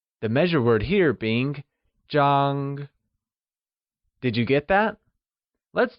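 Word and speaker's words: 张: The first measure word we will learn is zhang. Zhang is the measure word for something flat, such as a bed, a photo, or a paper. It is pronounced with a high level tone, like zhang.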